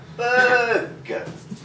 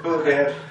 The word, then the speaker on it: burger: The last two letters, E-R, at the end of the word, normally aren't stressed in English. Okay? So the stress is going to go on the first syllable. And it becomes burger. Burger. Okay? First syllable stress. Second syllable is a schwa, okay, this minimal sound in English that almost disappears. The problem is, if you